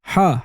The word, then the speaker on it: Ḥā: You pronounce it like hot, but because the coffee was so hot that you had to breathe while saying hot, hot, hot, you say ha, ha, ha, ha.